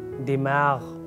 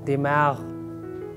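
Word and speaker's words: دماغ: It has ghain, dimag, dimag. That is the actual pronunciation, dimag, dimag.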